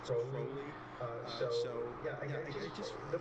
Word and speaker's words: Crowley: The name, it's not Crowley, it's Crowley.